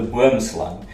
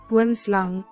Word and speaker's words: boomslang: what it translates to, it actually gives you the correct pronunciation, both for snake, slang, and tree, boom. Boomslang. But if you say pronunciation of boomslang, it still gives the wrong translation or pronunciation.